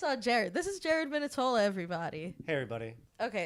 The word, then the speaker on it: Minetola: this is our show and this is Jared minitola our third guest thank you Jared for being on thanks for having me wonderful pronunciation my name that was perfect minitola yeah and Jared Jared both both were great